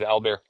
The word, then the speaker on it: Albert: In French, you don't pronounce the last T, so that's why it was Albert.